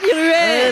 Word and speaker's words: Ruet: Et c'est Fanny Ruet. Bonjour, C'est Fanny Rouette. Ah, Rouette. Rouette. Ouais, C'est quoi? C'est Rué? Oui, non, c'est Rué. Ruet.